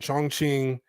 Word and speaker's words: Chongqing: I believe that's how you pronounce it, Chongqing in China.